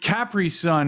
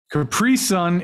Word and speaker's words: Capri Sun: is correcting me uh we pronounce it capri sun here capri sun is sending me no but it's capri sun right like like that was that's what the commercials always told me yeah capri sun that's